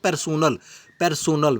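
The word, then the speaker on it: personnel: पर्सनल को मतलब होता है, पर्सनल नहीं पढ़ना आपने, इसको पढ़ना पर्सनल, ये स्पेलिंग NEL एंड पे आता है।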